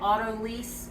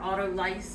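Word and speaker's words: autolyse: starter that's in there, it's actually called auto-lyse or auto-lyse. I've heard it pronounced two different ways.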